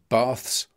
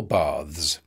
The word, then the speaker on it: baths: It can be either baths or baths.